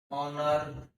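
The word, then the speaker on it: honour: OU होता है ना, जैसे एग्जांपल में देखो, SONEST, SONOUR, तो इसको बोलेंगे दोस्तों ऑनेस्ट, ऑनर और ओवर। यहाँ पर क्या क्या साइलेंट हो गया, एक्स साइलेंट हो गया, एक्स साइलेंट हो गया, एक्स साइलेंट हो गया।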